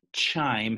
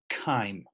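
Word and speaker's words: chyme: there's the word kind this is not pronounced chime CH yme is perhaps kind this is the broken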